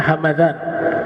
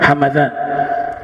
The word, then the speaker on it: Hamadan: khurasan di sekitar situ bacanya hamadan Ya kalau kalau Hamdan nama suku kalau hamadan nama kota maka mimnya dibaca fathah hamadan kalau Hamdan mimnya dibaca sukun Hamdan Ismu gabilah kalau hamadan